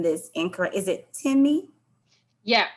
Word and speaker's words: Temi: Please let me know if I'm pronouncing this incorrect. Is it Temi? Yeah, it's Temi.